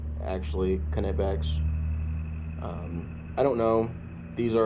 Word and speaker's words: Knipex: Knipex, Knipex, however you want to pronounce it. I've heard that it's actually Knipex.